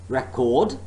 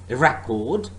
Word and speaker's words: record: For example, there are many English pairs of words like record, record, and record. Now the first word is a noun, whereas the second is a verb.